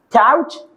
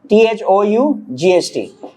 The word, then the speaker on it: thought: Tout. American pronounce this word as taught. Taught. Okay? अब जरा कुछ मजे की चीजें देखो. अब हम अक्सर कहते हैं think की second form tout. हाँ? THOUGHT.